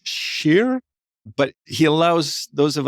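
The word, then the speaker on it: Kjær: Share. It's Sheer, but he allows those of us who are are language deficient to call him care.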